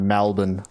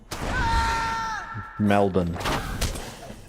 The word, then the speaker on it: Melbourne: I like how Bev pronounces his hometown, Melbourne.